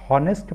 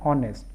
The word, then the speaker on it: honest: लेकिन अगर आप इसको हॉनेस्ट पढ़ते हैं तो हॉनेस्ट पढ़ेंगे तो ह आएगा, जबकि ये हॉनेस्ट इसका उच्चारण नहीं होता है। इसका सही उच्चारण है ऑनेस्ट।